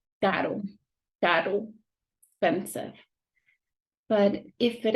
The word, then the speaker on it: caro: If it is in the middle, it will have a soft sound, like caro, caro, expensive.